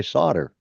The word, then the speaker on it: solder: into the the store we go in and buy solder because that's what it's called here it it's spelled with an L in the middle of it but are spelled with